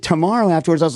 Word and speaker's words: T'maro: way folks it's called you pronounce it tomorrow right like tomorrow correct yeah now seeing